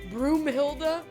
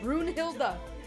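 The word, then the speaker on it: Brunhilda: They always say broom. Brunilda. No, Brun Hilda.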